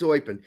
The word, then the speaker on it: Eupen: their big one was eupen they kept they kept saying eupen upin it's oin but um yeah there